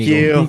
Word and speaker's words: Inigo: Antigo. thank Inigo. you. Inigo. Inigo. Inigo Montoya.